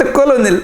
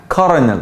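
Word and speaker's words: colonel: جزيره الكلمه دي قلت عليها ايه سمعتك قلت الكولونل صح لا كنل بص في صوت ار كده غريبه كارنل كارنل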